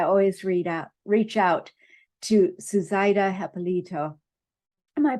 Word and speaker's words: Hipolito: I always reach out to Suzaita Hipolito. Am I pronouncing that correctly? Hipolito. Yeah, it's okay. My last name is a little interesting. It's Hipolito. Yeah. Hipolito.